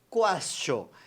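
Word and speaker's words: quaestio: Porque castio lembra questionar, porque em latim se pronuncia quastio.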